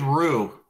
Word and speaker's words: Rowe: Okay, and David is your David Rowe, yeah. Is it Rowe? Yeah. Am I pronouncing it right, Jimmy? David Rowe? It's David Rue. Rue, thank you.